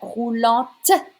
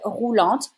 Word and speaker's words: roulante: Une chaise roulante. You need to say the T if you use a feminine word. It's an adjective. It's a wheelchair. Une chaise roulante.